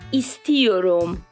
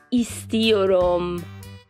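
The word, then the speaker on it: istiyorum: یه چیزی رو یاد بدم کلمه کلمه کلمه ایستیوروم ایستیوروم تلفظش ببینید ایستیوروم یعنی چی یعنی دلم میخواد دوست دارم یا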